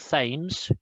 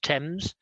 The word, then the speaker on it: Thames: river thames it's not thames the th is not pronounced thames it's pronounced thames so the river thames and saint thomas is